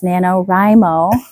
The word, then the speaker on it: NaNoWriMo: It's NaNoWriMo.